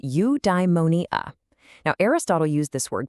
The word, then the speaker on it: eudaimonia: It's pronounced eudaimonia.